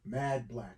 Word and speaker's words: Mad Blac: Mad Black. Okay. Mad Black, but Black is spelled BLAC.